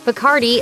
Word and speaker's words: Bacardi: If song lyrics are to be believed, Bacardi is one of the favorite liquors of the wild world of music, and only partially because it rhymes with party.